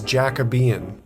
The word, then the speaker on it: Jacobean: But with a little bit more digging, we found out that the furniture is Jacabian. That is the correct pronunciation.